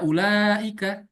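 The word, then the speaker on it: أولئك: Maka pada masa masa Utsmani ya, ada penambahan waw, tapi wawnya ini tidak dibaca untuk menunjukkan bahwa ini bacanya doma. Jadi bacanya ini kan nggak Hmm. dibaca ulaika, sedangkan yang ilaika ya tetap sama saja tulisannya seperti ini.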